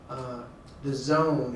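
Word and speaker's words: DAZN: This company called The Zone is how they say it, but Matchroom Entertainment, Matchroom Eddie Hearn, he just got a license with us here in California.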